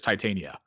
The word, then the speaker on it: Titania: giving the name people can tell me I mispronouncing this and I'm like I'm pretty sure it's Titania I think people are trying to say that